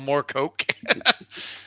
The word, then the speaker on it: Moorcock: It's actually it's pronounced Coke. More Coke. Michael Moore Coke.